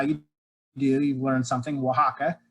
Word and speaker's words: Oaxaca: Oaxaca. It's in South Mexico, southwestern Mexico on the Pacific coast. Oaxaca is the name of the state, as well as the main city. So it's Oaxaca State, and then its capital, Oaxaca City.